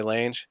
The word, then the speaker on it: Lange: So yeah, definitely check him out on the Instagram, John Wally Lange. It's pronounced Lang.